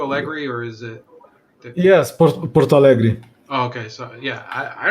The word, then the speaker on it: Porto Alegre: Yes, Porto Alegre.